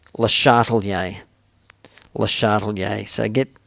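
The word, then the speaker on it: Le Chatelier: now let me teach you it's not much Atelier that's a dodgy way of saying it the proper way of pronouncing this French name is les shuttle yay the shuttle yay the shuttle yay so get get practicing on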